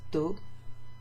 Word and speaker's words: d'eau: De eau becomes d'eau. Okay, so you wouldn't have de followed by eau. Instead, you have apostrophe, and it becomes d'eau, 1 syllable.